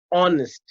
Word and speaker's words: honest: i told you and honest so honest means h is silent over here so we say an